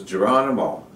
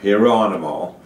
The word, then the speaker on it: Geronimo: of my tribe because this is Geronimo, or Hieronimo, however you want to pronounce it.